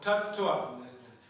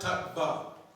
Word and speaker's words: Tattva: See, it's two syllables. T-A-T, tat, which you know means that. You see it all the time in so many verses. And twa, the syllable twa, T-W-A, is compared to the English N-E-S-S, which nest, like we say, consciousness, or nest. It's like that. So, tat-twa, there were two syllables. Pancha tat-twa, not tat-ba.